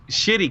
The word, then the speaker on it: Schitte: It's Shitty Kids, but it's spelled like SCHITTE, like it's like their name or something.